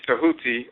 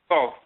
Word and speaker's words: Tahuti: You see Tahuti, or mispronounced Thoth, with his palette, his divine palette, and he's writing.